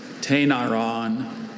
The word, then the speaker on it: Tainaron: Tainaron.